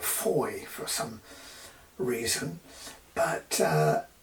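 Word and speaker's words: Fowey: river Foy or right the town is spelled Foy F we y but I think the locals call it Foy for some reason but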